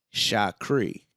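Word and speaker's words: Shukri: it's it's it's different my middle name is shot cree but it's spelled h i'm sorry s-h-u-k-r-i there's your little dimension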